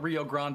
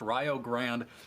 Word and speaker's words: Rio Grande: two between rayo grand not rio grande i promise we are not saying it wrong it is pronounced ryo grand versus springfield map one